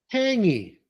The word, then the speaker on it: tangy: Tangy. Ah, we added a line here. Tangy. Repeat. Tangy. Okay, here the G is silent. So tangy, tangy.